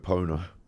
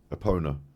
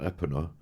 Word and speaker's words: Epona: You know, I don't know, because I was only a kid, but me and my sister called it Epona. Like pony, Epona. Not Epona.